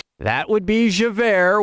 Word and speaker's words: Javert: that would be Javert which is j-a-v-e-r-t and is already pronounced as air you know two former